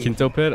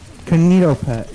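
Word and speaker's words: KinitoPET: Played Kinto Pit? I played $3. Don't ever say it again. Well, how do you say it? Kinito Pit. Kinito Pit.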